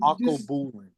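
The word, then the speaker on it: Alkebulan: It's called Akobulin.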